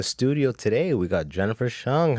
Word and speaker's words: Hsiung: Wahab in the studio today we got Jennifer Cheung how are ya very well and even happier that you got my last name pronounced correctly on the first go it is